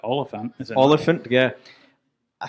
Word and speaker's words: Olyphant: It's just elephant, but Oliphant.